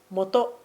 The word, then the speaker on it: 本: It is pronounced HON or MOTO In English, it is "Book".